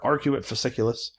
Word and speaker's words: arcuate fasciculus: broca's area and they're called the arc are arcuate fasciculus is the way i've been taught to pronounce it but we know what wernicke's area